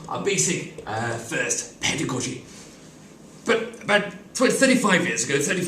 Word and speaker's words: pedagogy: better god to use some people say pedagogy under God you stress on the first syllable this generally refers to